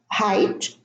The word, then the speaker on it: height: Now, all of those words have a silent G and H. In the first group, the GH are in the middle: fight, sight, light, tight, night, bright, height, eight.